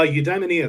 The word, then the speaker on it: Eudaimonia: Can you pronounce that one more time for me? Uh, Udamaia.